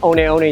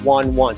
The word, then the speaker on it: Hoka One One: speed instinct and yes and this pronounced only only not one one so the hope of